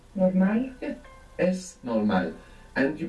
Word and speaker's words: es: So you might find slipping out es, but this is incorrect. You should be careful to pronounce an S.